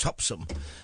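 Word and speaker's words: Topsham: there was one in a place called topam which the locals pronounced topsum and it wasn't at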